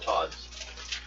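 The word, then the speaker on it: Tahd: These are all Lord Todd's. In case anyone wants to know, it's spelled T-A-H-D. I know it just sounds like Todd.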